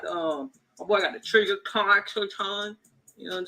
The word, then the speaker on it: Trijicon: You got the my boy got the trigger con. You know what I'm saying? How you say it? Trigger con? What's that? Trigger con? Trigger con? Trigger. Can you spell it for me?